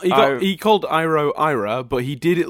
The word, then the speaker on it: Iroh: It's Iroh, yeah.